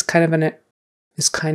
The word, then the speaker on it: kind: Is kind of an expression we use a lot. So kind with a long I, kind of.